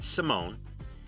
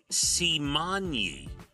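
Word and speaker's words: Raven-Symoné: pronouncing her name wrong it is not Simone it is simony simonye Raven Symone why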